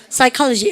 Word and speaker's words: psychology: psychology. 우리는요 P 발음 무급인 거 아시죠? 우리는 친구한테요 니 psycho이가 이러면 안 되죠. psycho입니까? psycho. 우리는 P 발음 무급이에요.